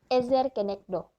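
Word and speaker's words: עזר כנגדו: doya kalau kalian bisa baca bahasa ibraninya silakan ezer kenegdo Ibu sudah baca di Sabtu tulis cara bacanya di sampingya diterjemahkan penolong yang sepadan yaitu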